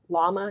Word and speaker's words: Llama: This is Llama. Is that how you pronounce it?